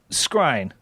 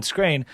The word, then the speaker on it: Skrein: idea as is that it's scrine wow right you said it right perfect only because i was looking i was i for a minute there i was thinking screen uh then i was